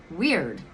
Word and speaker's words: wyrd: the Weaver fake destiny weird and it's weird because look how it's spelled w-i-r-w-i-y-r-d weird I've been getting this